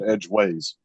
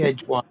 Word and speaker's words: edgeways: Now David said edgeways. Yeah, that's the way we say it. We don't say edgewise, we say edgeway.